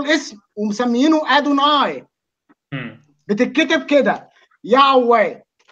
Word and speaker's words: يهوه: بتتكتب كده يعوي. الانجليز والامريكان بينطقوها كده، انا بنطقها زيهم. انت بقى عملت فيلم وبتتري عليه. لا لا بص جيهوفا ده طريقه ثانيه من النطق.